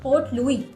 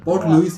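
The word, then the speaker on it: Port Louis: एक African country की पोर्ट लुईस है वो पोर्ट लुईस सारे स्टाइल्स प्रोनाउंस करते हैं ना इसलिए लुई है वैसे यार यार मुझे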